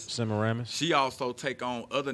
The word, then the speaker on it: Semiramis: Semiramis. Semiramis.